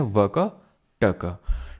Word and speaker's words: वाकाटक: वैसे इसको वाकाटक प्रोनाउंस करते हैं। ठीक है? वाकाटका तो मैं प्यार से बोल देता हूं।